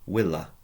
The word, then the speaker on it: villa: from the Latin word Pronounce W Willa well it ends in